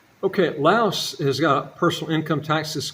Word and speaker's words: Laos: And some people pronounce it Laos, some people pronounce it LAOS. I pronounce it Laos, so this is the way I pronounce it.